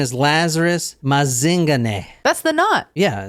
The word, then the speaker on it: Mazingane: Yeah, Mazingane. And that is how you say it too, because I actually heard someone in South Africa say it.